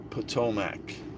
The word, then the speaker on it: Potomac: Potomac. Just curious, hold on. Potomac and silver connection? And funny enough, Potomac rhymes with Pontiac. Potomac and Pontiac kind of rhymes.